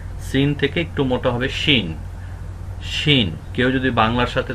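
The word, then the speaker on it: شين: দেখতে কিন্তু উপরে তিনটি নুক্তা একে বলা হয় শিন শিন শিন শিন একটু মোটা হবে সিন থেকে একটু মোটা হবে শিন শিন কেউ যদি বাংলার সাথে তুলনা করতে চান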